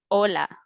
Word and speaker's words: hola: mention that in spanish in spanish language the h letter is silent so we do not pronounce the letter h for example number one